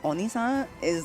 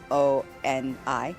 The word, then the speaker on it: oni: Uh o O with just one O and one N on is like a really respectful way to refer to a demon on cuz demon is oni o n i oni and then son is just like you know son.